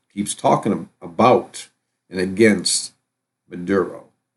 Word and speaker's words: Maduro: personal hygiene stuff there were sanctions put on Muro Muro or honey pronounce his name Maduro because he wouldn't play ball with Big Oil